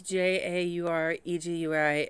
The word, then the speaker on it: Jauregui: I know I'm going to pronounce it wrong. I am sorry. It's Jauregui, and the song is called Pina.